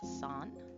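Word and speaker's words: 山: The way to pronounce mountain is san.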